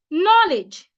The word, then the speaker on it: knowledge: climate climate not climate another example is knowledge knowledge knowledge it's a noun and it has two syllables what if it's an